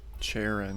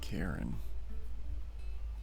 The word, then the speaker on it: Charon: Charon, not Karen.